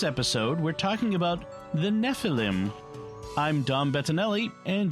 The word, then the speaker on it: Nephilim: Nephilim yeah Nephilim okay typically in Hebrew the accent is on the last syllable Nephilim I will try to